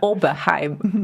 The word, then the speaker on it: Oberheim: And yeah, especially the especially difficult part is to kind of get that R right that they usually pronounce like somewhere in between French R and I don't even know actually, yes. But it's like Oberheim. Oberheim, yeah, Oberheim. Exactly. Yeah, like a Skåne R.